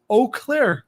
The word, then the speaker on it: Eau Claire: Eau Claire, Wisconsin.